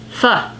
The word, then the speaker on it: pho: Pho.